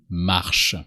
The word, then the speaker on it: marche: I walk is mar for I. You just replace e or by an e only and you never really pronounce the e. The e is always here to reveal the last consonant or to activate the last consonant.